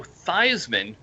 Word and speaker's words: Theismann: your name is joe thiesman and you need to change your name to joe theismann because it rhymes with heisman that's correct a lot